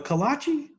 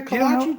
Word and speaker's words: kolache: That's got some really good kolaches too. They're homemade. All right. Bohemians in there, they know how to make those kolaches. What is that, bro? A kolache? Yeah. You never had a kolache, Joe?